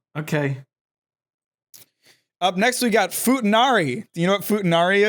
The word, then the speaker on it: futanari: we're also talking a different language, so maybe the pronunciation's just different. It's futanari, and it refers to chicks with dicks.